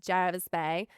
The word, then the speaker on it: Jervis Bay: Jervis Bay, but I know that when Australians say it, it's like, sounds like Jarvis. It's Jarvis Bay, but Jervis is what it spelled like.